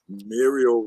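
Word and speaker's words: Merial: y'all Muriel real quick Muriel rhymes with cereal yeah now what what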